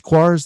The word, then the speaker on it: Quares: Quares, that's how you pronounce it, right? Perfect.